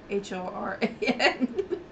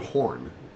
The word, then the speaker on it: Horan: NY horn uhhuh Horan h o r a n you said horn Horan Horan n horen horen it's spelled